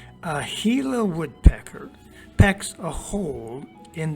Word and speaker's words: Gila: saguaro's thick stem a gila woodpecker now that word looks like another sound doesn't it but believe me it's pronounced gila a gila woodpecker packs a hole